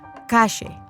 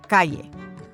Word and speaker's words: calle: They pronounce their double L's and Y's with a sh sound, as in ayer or calle, instead of ayer or calle.